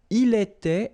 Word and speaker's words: il était: J'étais, so final S not pronounced. Tu étais, same form. Il était, elle était, final T not pronounced.